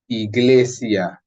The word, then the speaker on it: iglesia: same sound as the it's going to be pronounced like the English letter E in English that would be in Spanish so e e Iglesia Church heal turn and